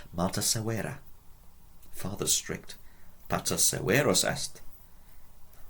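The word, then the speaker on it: severus: Severos. Notice the long E in the second syllable.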